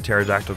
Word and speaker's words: pterodactyl: can't you hear a pterodactyl going to the bathroom because the p is silent no because it's dead